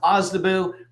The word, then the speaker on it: OSDBU: small disadvantage business utilization it's pronounced ozabu um and I put